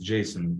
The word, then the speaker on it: JSON: Json as always pronounced Json with the stress on the first syllable Json not Json but